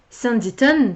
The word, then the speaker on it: Sanditon: Alors, comme prévu, je n'ai pas avancé dans These Violent Delights, mais à midi, j'ai effectivement commencé Sanditon, puisque c'est comme ça que ça se prononce, j'ai vérifié.